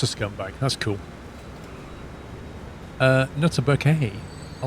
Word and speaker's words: Bucket: Yeah, her surname was Bucket, but she pronounced it Bouquet. People will be like, Mrs. Bucket? It's not Bucket, it's Bouquet.